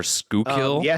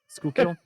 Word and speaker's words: Schuylkill: Or Skookill maybe. Skookill. I'm reading it and still not understanding. S K O O K L is the pronunciation.